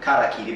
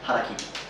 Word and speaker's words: harakiri: And I've even heard some people mispronounce it to karakiri, but that's wrong. It's hara with the H, harakiri.